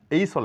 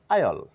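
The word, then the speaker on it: aisle: এবং এই লেটারটিরও কোন উচ্চারণ নেই তাহলে আমরা উচ্চারণ করব এইচল না বলে বলবো আইল আইল মানে করিডোর এটাকে এস্থেটিক বলে থাকি কিন্তু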